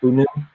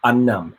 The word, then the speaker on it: Unum: You say Unum. I think in my head I just think of Unnum. Like, I don't know why. I think I added another extra N, but the typing is UNUM.